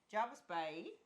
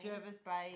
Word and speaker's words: Jervis Bay: a little weekend away to Jarvis Bay Jervis Bay Jervis Bay how the locals say it Jervis Bay very I've been saying it all wrong we are about to